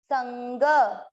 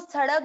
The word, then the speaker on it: संग: अब ये जो है इसका उच्चारण होगा आधा न, संग। देखिए आप बोल के देखेंगे, संग, न नाक से आ रहा है, इसको सड़ग ना बोलें, ये काम है सिर्फ